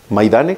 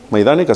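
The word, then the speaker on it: Majdanek: el campo de concentración de maidane se dice maydanica si se pronuncia en el campo de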